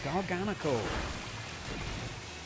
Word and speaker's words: Garganacl: Yeah, garganacle. I think I prefer pronouncing like that to Garganle, but Gar. But then the knackle, the emphasis is on the NaCCl, the salt chemical formula.